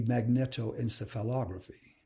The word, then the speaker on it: magnetoencephalography: video or the fmri then we have the magnetoencephalography it's actually pronounced magneto encephalography it's a real mouthful usually